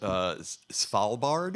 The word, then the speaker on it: Svalbard: So tell us the story about this next one, which is pronounced Svalbard.